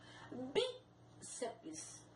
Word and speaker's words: bíceps: PS, apesar de soar uma sílaba, ele não tem vogal, então ele é agregado à sílaba anterior. Bíceps, forceps.